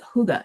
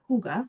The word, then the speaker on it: hygge: So, what is Huga? So, it is pronounced huga or huga.